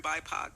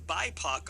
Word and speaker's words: BIPOC: poc is pronounced poc but in bipac all of a sudden it becomes puck which yes is so